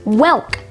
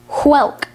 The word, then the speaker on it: whelk: a-d-d-l-e-p-a-t-e-d adulpated today's word of the day is welk spelled w-h-e-l-k welk welk has one alternate pronunciation hulk welk is a noun that derives from male